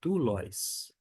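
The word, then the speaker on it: δοῦλος: A gente vai pronunciar como doulos.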